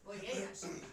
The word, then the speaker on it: Voyashana: Voyashana. That's Voyage. strike one. Voyashana. Voye. Yes. Voyashana. Like foyer. Foyer. No. Foyer. No. Voyer. No. Voyer Shana. My circuit. That's close. Voyer Shana.